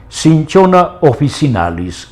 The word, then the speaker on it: Cinchona officinalis: Bien, el nombre científico de este arbolito es, pronunciándolo en castellano, Cinchona officinalis.